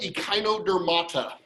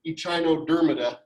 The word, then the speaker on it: echinodermata: this is like chimera it's just a k sound instead of ch okay so it's not ichinodermida what it means in